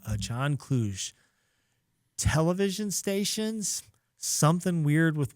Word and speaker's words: Kluge: Speaking of people no one talk about, there's a guy named John Kluge.